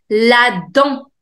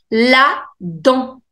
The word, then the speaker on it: la dent: La dent. La dent, which means the tooth. La dent. T is silent.